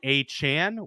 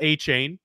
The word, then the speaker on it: Achane: He is not Achane. He even told the Dolphins media staff to change the pronunciations in the media guides. It is Achane, apparently.